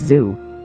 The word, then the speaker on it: Tzu: to the fact that Sun Tzu's last name, being Tzu, is pronounced as zoo.